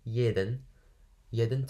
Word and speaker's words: jeden: Florian steht, so the S at the beginning is sh, steht jeden Tag, that means every day, jeden Tag. Jeden, the J is like ye, is like you can't pronounce it.